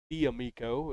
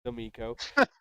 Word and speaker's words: D'Amico: how to say it he kept calling him diamiko and it's domico uh and then third